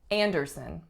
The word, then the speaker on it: Anderson: we have Anderson Anderson three syllables the strongest syllable is the first and the sound on the strongest syllable is anaise alized ah so it sounds like an the second syllable is the sound / and the third syllable is schwa Anderson Anderson next one we